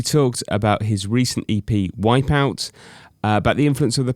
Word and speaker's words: Wipeout: How do you pronounce it? In fact, it's Wipeout.